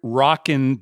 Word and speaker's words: Rock'n: all together these bets are called the hard rocken Dice and rocken is spelled r o c k apostrophe n Hard